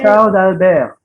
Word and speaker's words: Charles d'Albert: Bacanya Charles d'Albert.